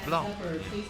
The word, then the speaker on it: Blanc: It is Blanc. But I know a lot of people in everything that spell things how you would think. Oh, like, oh, that must be French pronunciation. They're like, no, I just think C is cool, a cool letter. I don't like the letter K. It's still Blanc.